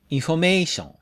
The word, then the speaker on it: information: The English word has a minor stress on in and major stress on may. The for and shun syllables have no stress, so the vowel changes to for shun.